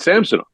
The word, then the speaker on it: Samsonov: But he was Samsonov in Washington. He came here, and the Leafs do a pronunciation guide where the players say their own name, and he said Samsonov.